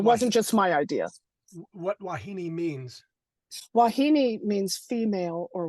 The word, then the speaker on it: wahine: looks like wah it looks like wahine h i n e but it's wahini like it's really Hawai